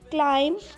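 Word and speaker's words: climb: Like क्लाइम, बी हम नहीं पढ़ेंगे, हम जस्ट क्लाइम एम तक पढ़ेंगे, क्लाइंब नहीं पढ़ेंगे.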